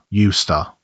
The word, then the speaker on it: used to: And in speech, say it as one word, used to. The D is silent.